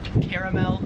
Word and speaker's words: caramel: Here, it is more pronounced like Uno. Number 7 is caramel, or as it said in Australia, caramel.